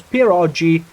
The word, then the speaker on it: pierogi: G in perioi is pronounced the same way as G is pronounced in Lago. Oh, perogi.